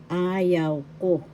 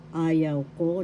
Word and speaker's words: ayaw ko: Ayaw ko. Ayaw ko, that means I don't like. First syllable second syllable yaw, third syllable ko. Ayaw ko. first syllable has the accent and the third syllable.